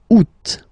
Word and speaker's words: août: And then here, two options, because, well, two options are acceptable in French. The first one, you don't pronounce the final T. Ou. Ou. Ou. Second one, you pronounce it. Août.